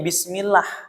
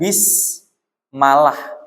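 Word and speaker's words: بسم الله: Maka dibacanya bismillah. Bukan bismalah, bukan bismullah.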